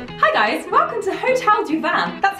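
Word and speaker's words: Hotel du Vin: guys, welcome to Hotel du Van. That's how it's pronounced.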